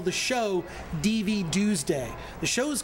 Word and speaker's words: DVDuesday: Everyone mispronounced. It's DVDuesday.